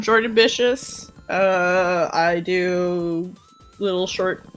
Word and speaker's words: Jordanbitious: introduce yourself fully uh my name is Jordan ambitious no say it properly I'm I'm Jordan Bishops uh I do little